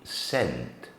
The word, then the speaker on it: scent: vowel sound um so the first example would be scent s c e simply making the sound S Plus the vowel eent